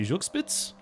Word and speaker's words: Zugspitze: I mean, yes, I've been to I think it's pronounced the Zugspitze, which is a mountain, kind of a famous mountain in that area.